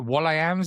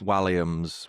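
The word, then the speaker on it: Walliams: Is it Wams? Is that how you pronounce it? Williams. Williams.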